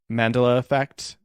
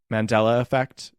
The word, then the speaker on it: Mandela effect: say wrong last time i said um mandala effect mandela effect i said it wrong i didn't know what